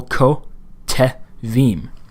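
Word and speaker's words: כֹּתְבִים: This is a new syllable, ko, te, vim. So this second rule is not as much a new rule as it is kind of building on the previous one. Well, we know that this is starting a syllable. It's coming after a long vowel, so it's starting a syllable. It must be vocal.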